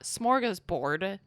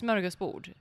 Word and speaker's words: smorgasbord: Also, it's not smorgasbord. It's smorgasbord.